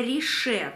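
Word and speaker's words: Riche: Производитель называет себя Рише, то есть не Ричи, как мы привыкли читать, да, вот это сочетание CH читается как Рише, оказывается.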